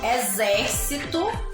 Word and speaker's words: exército: Ó, eu trouxe exército, escrito com X, mas tem um som de Z. Exame, exercício e exato. Aqui eu tenho algumas palavrinhas escritas todas com X, mas com som de Z, Z, tá bom?